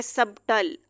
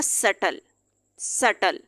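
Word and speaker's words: subtle: pronounce नहीं करते हैं अब हम इसको इस तरह नहीं का सकते हैं सब ताल अब ये शब्द हो जाएगा सेटल अभी यहां पर साइलेंट हो जाएगा सेटल डेट यहां पर साइलेंट हो जाएगा तो बी जो है वो साइलेंट कंसीडर किया जाता है इसके बाद है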